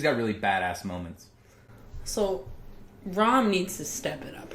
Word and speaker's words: Ram: one is Ren but the pink one is ROM yes I always said it Ram because that's how it's spelled and when I watched it in Japanese